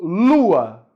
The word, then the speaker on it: lua: Então, lua. Qual é a sílaba tônica? Lu. Lua. Lu é mais forte, né?